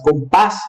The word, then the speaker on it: compás: A sílaba tônica é a última sílaba. A última sílaba da palavra é tônica, então a palavra é uma palavra aguda, como é o caso das palavras compás e tapiz.